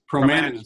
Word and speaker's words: Promanas: John is the founder, president of pronounce it for me, John. Promanas Group. Rhymes with bananas.